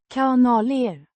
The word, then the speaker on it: kanaler: Pronounced kanaler with a long sound in, ka a short in, na and a distinct ler sound at the end.